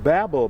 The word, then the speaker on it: Babel: Howe, I'm not here to argue with you, but you have no evidence that this is the Tower of Babel site. It is pronounced Babel, Ms.